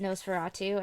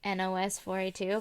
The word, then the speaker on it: Nosferatu: forever to realize that it was like pronounced Nosferatu and not like NOS 4a2 because it's a license plate and I was like